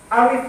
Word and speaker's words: alif: Makanya meski dia alif, bacanya benar, alif. Jangan alif, gitu ya Bu. Jangan baca alif. Alif itu fitnah. Dibacanya alif.